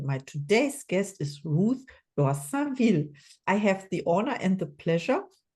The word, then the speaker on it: Dorsainville: My name is Ruth Dorsainville, as in Dorsainville. It's funny because I remember I was speaking to somebody before, and they were saying that, how do you say your name? So if you speak French, like I just find out that you speak French as well, it's Dor dans les seins de la ville.